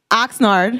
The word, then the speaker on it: Oxnard: Oxnard.